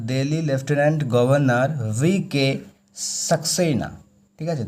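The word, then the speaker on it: Lieutenant: বুঝতে পেরেছ Delhi left governor ঠিক আছে এটার উচ্চারণ হবে লেফটেনেন্ট তো দিল্লির লেফটেনেন্ট গভর্নর ভিকে সাকসেনা ঠিক আছে দিল্লির যে লেফটেনেন্ট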